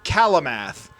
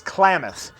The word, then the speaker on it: Klamath: say it wrong, because I would read it as Kalamath, but I'm also probably spelling it wrong. It's Klamath.